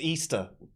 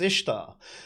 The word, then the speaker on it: Ishtar: The arguments that they made, the things about Ishtar, and the people saying, "Oh, it's pronounced Easter." No, it's not. It's pronounced Ishtar.